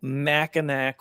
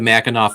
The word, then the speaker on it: Mackinac: It's Mackinac, not Mackinac. Oh, Mackinac. What is it? How do you say it? I'm sorry. It looks like Mackinac, but it's not. It's Mackinac. Mackinac. Local colloquialism.